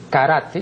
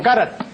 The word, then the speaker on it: karate: vez he dicho que la pronunciación de lo que aquí equivocadamente pronuncian karate no es karate, sino karate. No solamente porque así consta en el diccionario de la academia, sino porque es inimaginable, pues, de acuerdo con la fonética japonesa, que vaya pues un